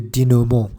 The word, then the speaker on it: denouement: The last phase in the plot structure is the denouement. Denouement is a French word, so we'd better keep its French pronunciation.